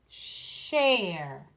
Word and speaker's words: share: The SH makes the sh sound. And then our silent E down here tells the A to say its name. A, sh, air, share.